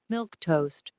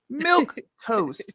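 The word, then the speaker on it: milquetoast: it does milk toast let's listen to how it's pronunciated milk toast milk toast so he wrote it how it's pronounced and it's a timid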